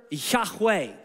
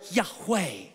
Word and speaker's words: Yahweh: love saying the word Yahweh because it sounds like breathe in and breathe out the thought of the ancients was that God when you say his name it's breathing in and breathing out that God is as close